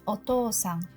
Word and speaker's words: お父さん: It pronounces as お父さん.